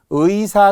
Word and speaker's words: 의사: 의로 100% 발음해야 된다는 거예요. 첫 음절의 의입니다. 자, 그런데 이제 둘째 음절의 이하의 의는 허용이 있어요. 의로 발음하는 게 원칙, 이로 발음하는 걸 허용한대. 자, 그래서 우리가 의라고 적는 거 있잖아요.